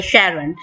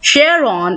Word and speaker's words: Charon: It has two different pronunciations, Charon in honor of discoverer's wife name used NASA and the members of New Horizon mission, and Charon for those who prefer the Greek pronunciation.